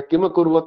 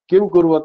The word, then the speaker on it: किम अकुर्वत: तो पांडवाश्चैव किम अकुर्वत, संजय किम अकुर्वत है, किम अकुर्वत लिखा हुआ है, इसका लोग गलत तरह से उच्चारण करते हैं, किम कुर्वत ऐसे उच्चारण करते हैं, पर इसमें दो शब्द है, किम अकुर्वत, दो शब्द है इसमें।